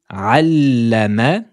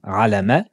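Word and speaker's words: عَلَّمَ: Allama, allama, dédoublement de la lettre lem avec le symbole de la shedda. Allama, ne dites pas alama, allama, allama, allazi, allama,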